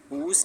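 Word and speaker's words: whose: he does not mind हुस team हुस team हुस हुस हुस हुज में W silent है हुस team he इज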